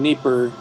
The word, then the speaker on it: Dnieper: placement of displaced people in Dnieper or Dnipro, depending on whether you use the Russian or the Ukrainian pronunciation.